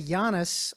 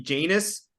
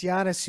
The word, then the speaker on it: Giannis: On set, other cast members, the crew, the directors, nobody knew how to. There'd be Janice. Let's get Janice. Janus. Let's get him over. Nobody pronounced it right. Janus. Oh my God, yes, Giannis.